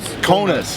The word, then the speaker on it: Kaunas: walked around, all around, how you say this? Kaunas? Am I saying it right? What? Kaunas. Yeah, Okay. it's called Kaunas. Kaunas. So second biggest town in Lithuania. all right, so second biggest town in Lithuania, and it's Kaunas. I've been saying it wrong the whole time, but we're walking around.